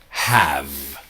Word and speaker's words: have: the pronunciation is really have, right? So the E, H-A-V-E, the E is silent and it's a strong V, have.